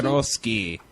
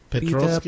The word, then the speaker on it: Petrosky: Petrosky. Yeah, that's how you pronounce it. Petrovsky?